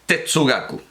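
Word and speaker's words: 哲学: Bueno, pues un calco tomando los ideogramas chinos para Che, sabiduría, y Shue, estudio, pronunciados Tetsugaku.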